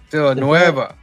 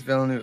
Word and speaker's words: Villeneuve: How do you say it? Nueve? Is it Nueve? Villanueva. Yeah. He's right. It's written by Eric Heiser and Ted Chiang. Is Villeneuve? It's French. Denis Villeneuve.